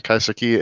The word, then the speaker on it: kaiseki: In 2011, she opened up En Naka, dedicated to the culinary art of, forgive me on Kaiseki. pronunciation, kaiseki?